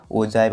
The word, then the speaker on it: ogive: यहाँ इसका प्रोनाउंसिएशन क्या होता है, ओजीव या ओजाइव, आप इसको यहाँ पे पढ़ सकते हैं।